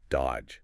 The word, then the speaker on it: dodge: You don't say that middle D at all. It's just dodge.